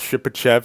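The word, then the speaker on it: Shipachyov: the ship achieve ship achieve that's how it's pronounced ship achieve not ship shy of four goals and twelve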